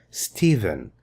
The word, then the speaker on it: Stephen: This is pronounced as V. Stephen.